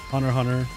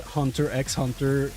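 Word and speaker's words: Hunter × Hunter: I've said hunter x hunter with the x for 15 years before I learned it was supposed to be silent.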